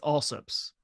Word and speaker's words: Allsup's: So in Texas, small town Texas, it's Allsup's.